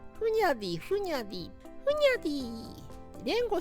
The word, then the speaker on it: Hunyadi: イおじですねフニャティって発音全然違いますけど日本語にしちゃうとラキ界隈で 1番可愛い響きですふにゃでィふにゃでィふにゃディ